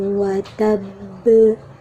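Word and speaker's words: وَتَبَّ: Maka cara bacanya, tasydidkan dulu, ditekan dulu, jadi penuhi dulu tasydidnya, baru kemudian dipantulkan. Tabbat yada abi lahabin watab. Tidak, watab. Kalau dialirkan berarti ba-nya itu tidak bertasydid.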